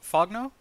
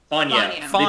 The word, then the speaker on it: Fogno: get this wrong, Rick Fogno? Fogno. Fogno. The G is silent.